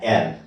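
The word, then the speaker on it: heir: तो इसको एर पढ़ते हैं, हेयर नहीं पढ़ते हैं।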